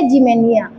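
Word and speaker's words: Ximenia: जिमेनिया।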